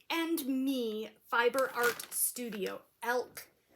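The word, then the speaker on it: Alk: Elk, pronounced or spelled A-L-K, and Me Fiber Art Studio.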